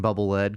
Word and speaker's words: Bubble Lead: Akira kumura says that Mega Man 2's bubble lead weapon is in fact pronounced as the verb lead not as the noun LED I disagree I think he